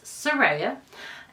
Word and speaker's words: Sera: I am Sera most people do not know how to say my name but it's Sera and I am a